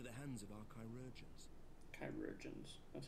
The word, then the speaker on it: chirurgeons: Chirurgeons. That's how you spell it. And that's how you say it.